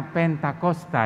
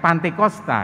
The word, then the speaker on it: Pentakosta: ke-50 Oh itu artinya pentakosta yarem benar penta kosta Oh iya bukan pantekosta ya bukan pantekosta itu pengucapan lidah orang Indonesia yang kadang memang susah diatur ya lidah orang Indonesia Saya